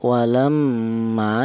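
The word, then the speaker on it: وَلَمَّا: Di sini ada walamma yaitu ada huruf mim. Di mana huruf mim ini bertasydid ini dibaca ghunah. Apa artinya ghunah? Ghunah itu artinya ada suara berdengung. Adapun panjangnya dengung yaitu dua harakat atau dua ketukan. Walam yang em itu dengung.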